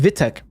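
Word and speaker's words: Witek: I'm Polish, if you couldn't tell by now, and my nickname is pronounced Vitek. In Polish, I makes a W sound, and W makes a V sound.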